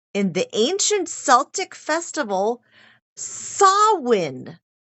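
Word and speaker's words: Samhain: has its roots in the ancient Celtic Festival sawin it's a gat word it I mean you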